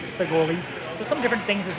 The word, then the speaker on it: Shekoli: Our K's are really like G's, so you spell it S-H-E-K-O-L-I. Looks like Shekoli, but really it's pronounced Segoli.